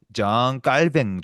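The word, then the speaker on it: Jean Calvin: 이분은 프랑스 분이라 가지고 프랑스 말로 읽으면 장 칼붕이라고 읽을 수 있고 영어로 하면 장 칼빈이라고 읽고 뭐 여러 가지로 번역할 수 있는데 제일 좋은 번역은 신학자의 이름은 그 사람의 출신을 따라 부르는 게 제일 좋거든요. 그러니까 이분은 프랑스 사람이니까 장 깔뱅 정도가 제일 좋아요.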